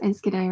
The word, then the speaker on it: Enschede: Nicole says, yep, you pronounce Enschede right.